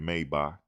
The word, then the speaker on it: Maybach: Go ahead and go ship off your Maybach. Go ship off the Maybach. It's pronounced Maybach, but we say it wrong. People say Maybach. It's Maybach.